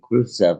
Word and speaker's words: Khrushchev: But back in the day, and what happened, an interesting story about that is that old bubblehead, Eisenhower, and Khrushchev, which is how you say Khrushchev in Russian, were supposed to meet.